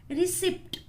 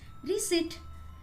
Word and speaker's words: receipt: Most of the people pronounce it as receipt, but it's not receipt. The correct pronunciation of this word is receipt, म्हणजे पावती.